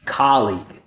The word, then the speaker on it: colleague: Colleague. So normally students confuse the rhythm pattern here. Instead of stressing the first syllable, they stress the second syllable, so it sounds something like this.